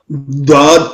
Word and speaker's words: ض: جی dad pronounced as a dad. Start using edge of tongue touching gums of upper molars.